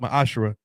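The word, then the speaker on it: מעשר: Malachi 38-10 means 10th in the Hebrew it's pronounced my ashra 10% of every penny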